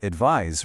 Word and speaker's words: advise: The noun advice rhymes with nice, while the verb advise rhymes with size.